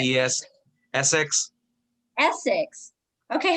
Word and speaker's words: Essex: are you still on ESSIS, ESSIS Street? How do you say it? Essex.